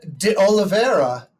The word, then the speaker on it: D'Oliveira: But to be clear, am I saying that correctly? You're saying it perfectly, actually.